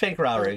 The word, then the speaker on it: Pank Rauru: Okay, Sonic Boom is It's pronounced Pank Rauru, yep.